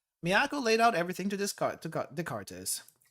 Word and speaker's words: Descartes: Miyako laid out everything to Descartes. Remember, the S is silent.